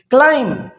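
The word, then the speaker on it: climb: क्लाइम, अब क्लाइम देखिए, हम क्लाइंब नहीं बोलेंगे क्योंकि एम के बाद बी जो आया है उसको हमने क्या करना है,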